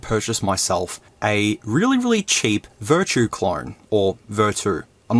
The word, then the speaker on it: VERTU: I finally found out that it's actually called VERTU and not VERTU, so if I pronounce it wrong during the review, I'm sorry.